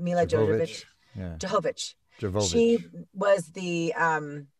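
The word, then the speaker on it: Milla Jovovich: Mila Jovovich.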